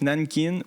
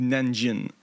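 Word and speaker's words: Nanjing: En français, les deux se prononcent Nankin ou Nanjin.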